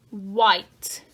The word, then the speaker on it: white: I'm going to have a white. My what has a silent h. White.